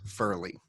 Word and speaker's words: Fierley: to repeat it sure we pronounce my last name as Furley okay and it's not written that way so if anyone ever